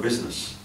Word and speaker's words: business: say Bess you don't the word I is not pronounced So Silent only then